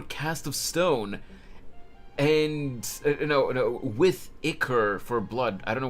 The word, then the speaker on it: ichor: Second pronunciation. Okay, so it's Ichor.